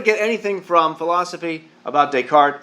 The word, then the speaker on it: Descartes: Do you notice a third of the language is silent? It's not Descartes, it's Descartes. Descartes.